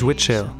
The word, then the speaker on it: Wittshell: Hi, my name is Witchell. It's not so easy to pronounce, it's not so easy to spell, but that's what it is.